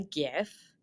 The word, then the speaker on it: GIF: also a function in here to make a GIF.